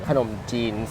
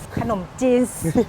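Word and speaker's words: ขนมจีน: จีน น้ำ ยา ไก่ เด็ก สมัย ใหม่ เขา ออก เสียง ขนม จีน ขนม จีนส์ ป้อง ซื้อ ทุก อย่าง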